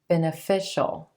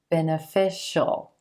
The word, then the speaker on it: beneficial: how to pronounce it beneficial beneficial here we have that Shh sound so we go to the dark L Sheol beneficial this is really beneficial